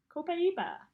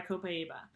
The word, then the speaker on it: Copaiba: A lot of people pronounce it differently, but that's how I pronounce it. Oh, there we go. I'm trying to get this camera thing figured out. Copaiba.